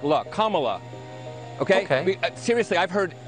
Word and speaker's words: Kamala: the senate her name is pronounced comma like the punctuation mark look kamala okay okay seriously i've